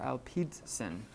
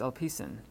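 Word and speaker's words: ἐλπίσιν: So instead of L P sin, it's a signal right there, but instead of LP, it's hard to pronounce that together. Alpidsin. Well, it's Alpicin.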